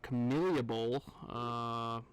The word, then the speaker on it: Camellia Bowl: Yeah, so we have the Camellia Bowl.